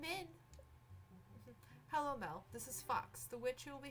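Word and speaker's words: Phux: the festival these past years uh Fox is pronounced like Fox uh it's Fox p h u x fox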